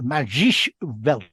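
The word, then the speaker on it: Magische Welt: Well, on that, Magic Welt, that Magisch Welt, that's how you pronounce it in German, I'm told.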